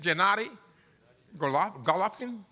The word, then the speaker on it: Gennady Golovkin: go off what is how you say it Gennady golovkin yes from Kazakhstan well the spirits of Kazakhstan